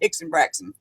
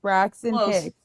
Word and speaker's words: Braxton Hicks: No, it's Yeah, you had backwards. Braxton Hicks.